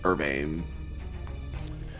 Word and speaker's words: Urbane: Urbane. Rhymes with Sylvain.